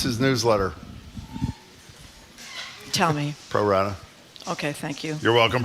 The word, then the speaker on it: Pro Rata: How do you pronounce his newsletter? Tell me. Pro Rata.